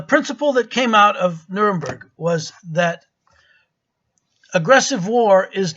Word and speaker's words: Nuremberg: Now, in Nuremberg, I should say Nuremberg, not Nuremberg, that's the German pronunciation.